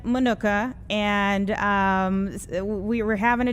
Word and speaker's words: Minooka: I will say, though, the village president, he pronounces it Minooka, and he's been here his whole life.